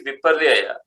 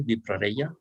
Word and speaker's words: viparyaya: Now the second category is viparyaya. Viparyaya is the wrong understanding or incorrect understanding. La segunda categoría es, I want to hear you pronounce slowly the Sanskrit term for this second category, viparaya.